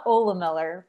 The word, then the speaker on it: Ohlemiller: say the last name yeah my name is so hard so it's ola miller but it's just it's